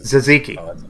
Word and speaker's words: tzatziki: How do Americans pronounce tzatziki? Tzatziki. So it's a silent T. Tzatziki. It's like zamisi. Gotcha. It's not entirely silent. It's like a soft D.